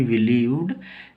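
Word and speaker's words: believed: और डी से ड ई का उच्चारण नहीं होगा वी बिलीव्ड ऐसे बोलेंगे वी यानी हम या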